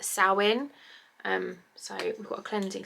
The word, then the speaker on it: Samhain: So it's spelled Samhain. It looks like Samhain, but I've googled and asked people, and I've been assured that it's pronounced Samhain.